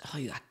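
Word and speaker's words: רוּחַ: dans l'Ancien Testament et le mot Hébreux Rua il se prononce ruac terme trouvé 378 fois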